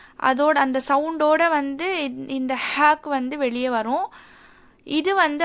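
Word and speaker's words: ه: இந்த ஹ வந்து 3rd போர்ஷனில் இருந்து ப்ரொனவுன்ஸ் ஆகுது. 3rd portion of the throat. ஹ, ஹ. கீழே இருந்து நாம் சவுண்ட் கொண்டு வரணும்.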